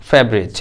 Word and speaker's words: favourite: এই যে ফেবা এই বাটা টানবেন না, বয়ে যে ব্রেক দেন, ফেভারিট এইভাবে বলবেন, হ্যাঁ, ওকে।